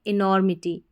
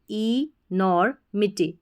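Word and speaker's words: enormity: Repeat होता रहता है, इसको नॉर करके पढ़ते हैं, इनॉर, एम आई मी और टी वाई टी। तो क्या बन गई हमारी स्पेलिंग, इनॉर्मिटी, ई नॉर मिटी, इनॉर्मिटी।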